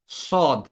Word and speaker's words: ص: এটা আমরা সা বলবো না, সা বললে ওই সিনের সাথে মিলে যাবে। তো আমরা এটাকে বলবো কি স, স সি সু, স সি সু।